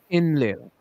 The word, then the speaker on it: Enlil: this little D, which is the determinative, so you don't pronounce it. So this would be just Enlil.